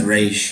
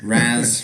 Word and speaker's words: Ra's: I was going to say it's Raish, I know. Raz, Raish. Always been Raish.